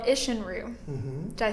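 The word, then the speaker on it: Isshin-ryu: One style of fighting we haven't discussed is one you'd study called Ishinru.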